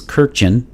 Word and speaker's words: Kurkdjian: kirkjen uh so so kirkjian is uh in english uh the pronunciation it is k-u-r-k-d-j-i-a-n that is an armenian last name so in in in